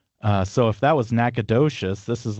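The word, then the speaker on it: Nacogdoches: Nacadocious.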